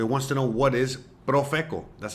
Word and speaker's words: Profeco: It wants to know what is Profeco. That's how you pronounce it, by the way.